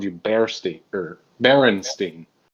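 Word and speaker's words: Berenstain: the way i'm sorry it's the berenstein not the baron stain or whatever the it is no not me i'm talking about the actual the bears it's spelled with an e not an a and if you disagree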